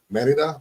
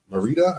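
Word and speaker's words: Mérida: It's called Merida or Merida. I guess that's how you pronounce it in English.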